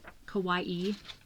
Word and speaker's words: kawaii: right that was a Kawai Kawaii Kawai I always want to say Kawai but I don't say Hawaii for Hawaii and it was $4.98